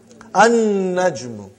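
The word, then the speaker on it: النجمُ: An-Najmu. You did not pronounce Lam. Because noon is a shamsi, sun letter.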